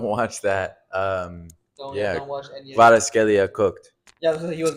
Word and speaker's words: Kvaratskhelia: Kvaratskhelia. Khalas. No, no. Say how it's pronounced. So say with me, okay? Kvicha, Kvicha, Kvara, Kvara, Scalia. Scalia. There you go. Kvicha, Kvicha, Kvara, Scalia. Kvaratskhelia.